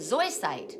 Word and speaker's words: zoisite: up and so white am I saying it right zoisite zoisite I think I'm saying it wrong so so SOI site SOI site there you go sorry okay dispels laziness